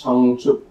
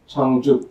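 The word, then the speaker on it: བྱང་ཆུབ: And in Tibetan, again, two syllables, changchup, changchup, and this is the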